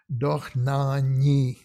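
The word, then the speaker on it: Dohnányi: yeah but here the ny combination is followed by an i so we don't hear the why here but we do hear the eyes so this is earns von dachna so here we it's non-yi because of the i not because of the y okay let's look at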